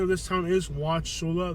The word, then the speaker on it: Wauchula: The pronunciation of this town is Watcha. There is a U in there and it is silent.